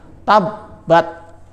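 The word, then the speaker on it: تَبَّتْ: Cara bacanya adalah rabbuka, double B ya, B-nya ada 2 sehingga ditekan.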